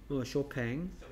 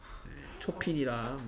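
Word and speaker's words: Chopin: 쇼팽. 쇼팽이요? 예. 저기요? 한국 사람들은 쇼팽이라고 그러죠. 예. 됐습니까? 초핀이랑 뭐 다들 초핀이라고 있습니다.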